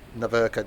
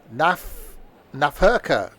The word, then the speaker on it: Nahverkehr: German V is pronounced like an F. Nahverkehr Dresden.